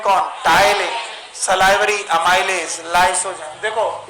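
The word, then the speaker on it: ptyalin: टाइलिन, पिटाइलिन नहीं, पी को silent करना है, टाइलिन पढ़ना।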